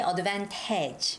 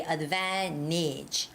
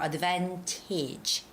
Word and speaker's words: advantage: our store this weekend you don't say advantage okay because there's no stress on the last a so you have to say advantage or advantage okay that last a